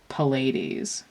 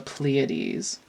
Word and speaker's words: Pleiades: And I hate doing that because it infuriates me when people mispronounce the Pleiades and they say the, like, Pallades. We're not talking about stars that are made out of palladium. We're talking about the Pleiades.